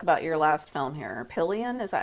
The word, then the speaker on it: Pillion: Pillion, is that how you say it?